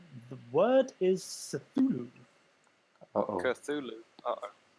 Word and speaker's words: Cthulhu: They say the word is Cthulhu. Uh-oh. Cthulhu. Uh-oh. How do you spell that?